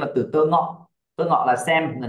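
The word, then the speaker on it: tengok: Thấy phim đúng không n chúng ta dùng tơ Ngọ qua dă là đi đi xem phim t Ngọ được chưa nào một số bạn đọc là té té ngó té xong rồi ngó ngóc đầu về ngó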